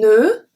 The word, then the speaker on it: nœud: Un nœud, nothing at the end, even though there's a D, we don't pronounce it.